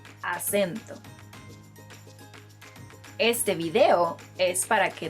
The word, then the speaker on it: acento: I know the word in English and the word in Spanish look very similar, but they are pronounced differently. So instead of acento, say acento.